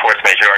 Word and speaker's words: Force Majeure: How do they pronounce it? Force Majeure? Yeah, Force Majeure.